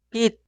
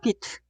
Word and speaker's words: 빛: Esta sílaba suena 빛, 빛, 빛. Nunca suena 빛, tampoco 빛.